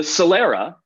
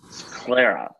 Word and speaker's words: sclera: you don't understand your let's pronounce sclera this Lera sclera yeah it's gonna learn through